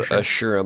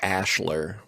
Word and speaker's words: Ashura: Phonetically, it's spelled Ashura, but in the dub we watched, it was like Ashler, Baron Ashler.